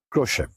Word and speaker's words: Khrushchev: Khrushchev जिसे आप कहते हैं या Khrushchev जिसे कहते हैं, the correct pronunciation is Khrushchev.